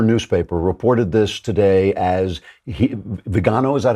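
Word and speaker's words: Viganò: Now, the New York Times, a former newspaper, reported this today as Vigano. Is that how you pronounce it? Vigano, yeah.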